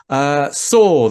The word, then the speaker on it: Saur: So I need to make a T-shirt that says Saur like the end of dinosaur, and then convince some people to buy it.